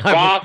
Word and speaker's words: Bath: So it's Both rather than Bath. The British say Both. We say Bath, and when we do, the British kind of cringe.